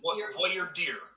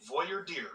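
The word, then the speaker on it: voir dire: I got your pronunciation it's voyard dear like Voyer dear okay dear like uh dear the headlights okay Voyer deer got it Voyer deer all right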